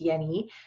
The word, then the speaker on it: Jenny: his name was hans yeni um so spelled jenny but pronounced yeni um and he basically